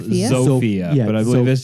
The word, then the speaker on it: Zofia: Shortly after that, his son Tomasz Beksiński was born, and he and his wife, it's spelled Zofia? Zofia, Yeah, but I believe that's just the Polish way to Sophia.